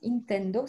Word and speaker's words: Intendo: Si on veut l'aider à faire ça, on peut l'accompagner avec un outil qui s'appelle Carte Intendo. Ça se prononce vraiment comme ça, ça vient du latin.